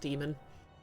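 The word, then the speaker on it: daemon: oh yeah that's true Damon's which is spelled with the um is technically still pronounced demon and demons are different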